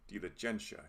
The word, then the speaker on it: diligentia: It has a long I and a short I, so we can compare the sounds of the two, E versus E. Also, it's a reminder that the G and T are always hard. Some English speakers will want to say diligentia here, but it's diligentia.